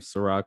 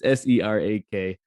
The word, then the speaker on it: Serak: YouTube, Facebook, just type in the Weekly Review, or you just type in my name, Serak, which is just like the liquor. I know you messed me up, but it's Serak.